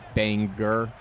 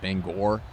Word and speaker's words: Bangor: Kind of like how um um like in Maine it's Banger, but some people pronounce it Bangor.